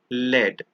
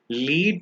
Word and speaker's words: lead: lead and the other one is pronounced as Leed lead means to influence someone